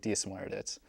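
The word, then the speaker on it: Dia is Muire dhuit: To say hello to someone, as you said before, you say diadit, and in response to that, you say diasmuerdit.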